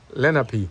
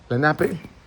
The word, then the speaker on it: Lenape: let me see if you said it right, Lenape, N-A-H-P, Lenape, Lenape, which means common people.